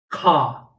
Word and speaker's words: Ka: So a detail of saying Ka, because it's not Ka or Ha, it's Ka. The word Ka, you have to heat the palate, okay, very deep behind.